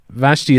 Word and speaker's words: Vashti: or as Vega vet Vashti is is that how you say your name yes it is you pronounce it correct oh yeah yes well